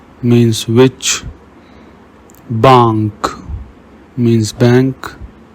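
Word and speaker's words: banque: Whenever you see QU, pronounce it like ka in the English word cat. Kel means which. Bank means bank.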